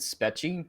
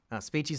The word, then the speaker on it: Speechy: I pronounced it Spetchy because there's one E. Yeah. But apparently it's Speechy. Speechy's not your favorite Storytime animator?